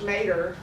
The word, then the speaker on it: mater: A matrilineage, this prefix comes from a Latin word, we would pronounce it in English, mater.